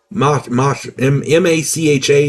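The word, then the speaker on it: Mácha: In 1836, the Czech poet Karel Hynek, let me get his name right, Karel Hynek, M-A-C-H-A, and the accent is on the first A, so I'm going to say Macha.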